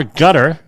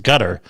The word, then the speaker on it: Qatar: Armageddon scenario for gas markets as Qatar or gutter. I've always heard it pronounced gutter as Qatar.